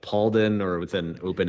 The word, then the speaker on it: Palden: I say Palden. Palden, which is somewhere between. My mother gets on my case about pronouncing it incorrectly because it's actually a Tibetan name, and so she says it's Ma Pa Palden.